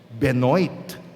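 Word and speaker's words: Benoît: si Ben Ben Ben Ang hirap i-pronounce kasi French no benoit Ayan ano siya po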